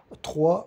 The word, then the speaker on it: trois: 3, c'est écrit T-R-O-I-S. O 3, mas não se pronuncia S.